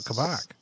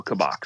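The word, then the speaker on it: Kabak: excited about this how are you feeling about kabock it's such a loaded question first of all you're both getting the pronunciation correct um i watched uh klopp's most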